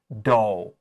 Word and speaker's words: dough: Here, O-U-G-H just sounds like long O, dough.